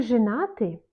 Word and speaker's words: женаты: Вы женаты? Вы женаты? On prononce comme I. Женаты, mais on écrit Y.